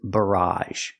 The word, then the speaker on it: barrage: The next word is barrage. Very similar. Barrage. The first sound is like burger. B. and the a sound at the end.